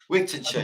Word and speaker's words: Wigtownshire: Wigtonshire, yeah.